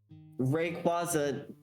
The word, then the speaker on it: Rayquaza: Rayquaza. It seems as though the intended pronunciation is rayquaza which makes sense cuz quazar but I think that sounds bad.